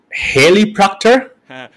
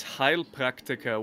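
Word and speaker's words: Heilpraktiker: try to pronounce it haley proctor well no it's actually it's heil practica which literally translated means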